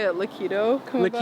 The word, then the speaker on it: Liquido: Liquido come about? Liquido.